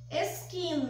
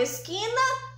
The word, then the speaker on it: esquina: palavra Então vamos chamar esquina esquina qual é o som mais forte é o som do que então aqui eu também tenho aqui a penúltima sílaba é a mais forte por ser a penúltima